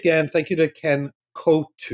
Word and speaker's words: Coutu: Thank you to Ken Ku. Yes. I mean, that's the normal way. But people call me because we've pronounced it for for decades and decades.